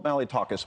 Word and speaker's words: Malliotakis: So you had Nicole Malliotakis, who I hope I pronounced her name correctly.